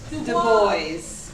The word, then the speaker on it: Du Bois: He wrote a newspaper article in which he phonetically wrote out how to spell his name. And let's see if you can do this. D-E-B-O-Y-Z.